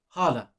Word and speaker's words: hala: So, the pronunciation is hala.